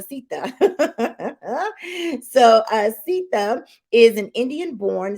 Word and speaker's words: Seetha: He says you pronounce his name like Mama Seetha.